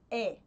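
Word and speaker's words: 의: partícula de posse I por regra de pronúncia ela é permiti pronunciar como é certo como se fosse o oi Ok bom essa partícula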